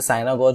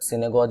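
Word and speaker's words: synagogue: इसे बोलते हैं सिनेगॉज। कुछ लोग इसे साइनागॉज बोलते हैं, मे बी वो सही हो सकता है, बट सिनेगॉज इज राइट प्रोनाउंसिएशन।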